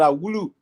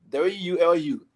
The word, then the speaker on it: Wulu: Asa man, middle name pronouncing that Wulu. W-U-L-U. Wulu.